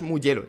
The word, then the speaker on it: Mugello: O sea, quiero decir, tampoco es tan complicado, es Mugello. Ya está, es italiano.